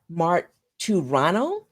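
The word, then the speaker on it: Marturano: people janice i think her now last name is pronounced mark two rano she wrote finding the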